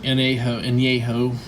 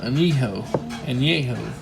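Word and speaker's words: añejo: Espanita tequila, anejo, however you like to pronounce it. I'm sure Americans say anejo, but anejo.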